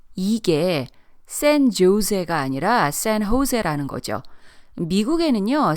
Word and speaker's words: San Jose: 여기서 San Jose 발음을 주의해야 하는 게 이게 San Jose가 아니라 San Jose라는 거죠. 미국에는요, 스페인어로 된 도로명, 지명, 학교명이 많기 때문에 발음에 걸려서 넘어지는 경우가 많아요. 특히 J가 스페인어에서는 H로 발음이 되고 double L이 Y 발음되기 때문에 스페니쉬 단어에 익숙하지 않은